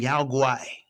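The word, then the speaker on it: Yao Guai: Next card we have is Rampaging Yaay. Rampaging Yaay. That's how you say it. I took a little bit of Mandarin back in my day.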